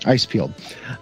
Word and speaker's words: Icepield: Now, how do you pronounce Icepield? Is that how you... That's exactly how you pronounce it. Icepield.